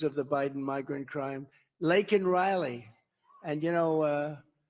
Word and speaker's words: Laken: the Biden migrant crime lakan Riley and you know uh Biden was unable to pronounce her name called called her Lincoln Riley and this was right